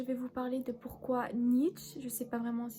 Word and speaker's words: Nietzsche: cette vidéo je vais vous parler de pourquoi Nietzsche je sais pas vraiment si ça se prononce comme ça est un philosophe controversé tout